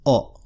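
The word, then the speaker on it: を: And technically there's a wa, but I've never heard it pronounced wa. I'm not sure if it ever is. Maybe it is, I don't know, but it's usually pronounced o. Just an o sound, and it's almost exclusively used as a particle, as an object marker.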